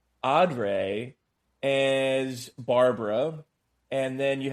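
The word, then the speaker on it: O'Dea: I think her name is pronounced Audrey as Barbara, and then you have Carl Hartman as Mr.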